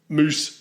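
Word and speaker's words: Mousse: about their name was you would think it would be spelt moose like the animal too yeah but it's not it's spelt moose like the dessert yes that makes no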